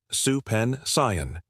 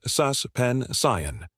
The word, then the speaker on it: suspension: Many learners say supen. The correct pronunciation is suspension. The sus sounds like the beginning of the word suspect.